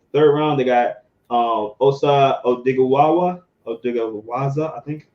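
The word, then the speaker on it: Odighizuwa: Third round, they got Osa Odigwaza, I think how you say it. Chancey Golden and Nashawn Wright. Fourth round. Say Odigizua.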